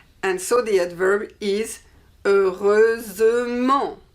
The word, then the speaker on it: heureusement: And so the adverb is heureusement. Heureusement. We hear the S like the feminine.